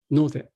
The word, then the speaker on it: node: expression like kara or node. And the interesting thing is that because expression is pronounced like no de, this can be decomposed into two parts, no and de.